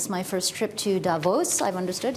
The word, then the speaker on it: Davos: of you this is my first trip to Davos I've understood it's pronounced Davos and I've heard so much about this and